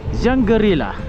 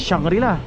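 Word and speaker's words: Shangri-La: Kat sini dia panggil Jangerila. Bukan shangrila. Jangarilla dia ejaan dia ialah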